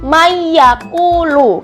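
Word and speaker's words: مَن يَقُولُ: Emang tulisannya Nia Desa Man yaquulu tapi karena ini nun sukun nun sukun ini nun sukun bertemu dengan ya jadinya dia dimasukkan ke yak nya jadi Bacanya adalah mayakulu kayak gitu teman-teman Ini huruf yang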